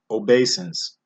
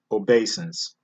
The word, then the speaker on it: obeisance: we got another tongue twister here and it's pronounced obeisance it's spelled OBE is a and C e obeisance and it's in Genesis chapter 37 verse 7